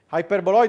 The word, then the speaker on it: hyperboloid: One sheet hyperboloid. Okay. Remember to pronounce it with a long E.